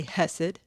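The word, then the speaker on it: Chesed: people pronounce it differently it rhymes with blessed so if you say blessed you could say hessed or hest right it translates to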